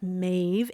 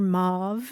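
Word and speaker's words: Maeve: again and again that it's mave m AE V and it rhymes with wave but uh Grandma accidentally calls her mauve and you're constantly trying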